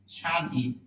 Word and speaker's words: স্বাধীন: ফলা উচ্চারণ হয় না আদি মানে প্রথম শব্দের আদিতে ব ফলা থাকলে ব ফলার উচ্চারণ হবে না আমরা একটু খেয়াল করি বললাম স্বাধীন স্বাধীন উচ্চারণের একটা নিয়ম